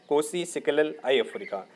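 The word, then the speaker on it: Nkosi Sikelel' iAfrika: कोसी सिकेलल आई अफ्रीका, एन यहाँ पर साइलेंट है, कोसी सिकेलल आई अफ्रीका, ये नेम आपको याद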